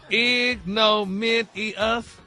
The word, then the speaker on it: ignominious: It's broken down phonetically, very simple. Ignominious. Pull it all together. Ignominious.